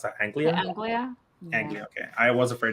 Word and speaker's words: Anglia: I don't know how to pronounce that. Anglia. Anglia.